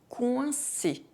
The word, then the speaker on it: coincé: Coincé, coincé.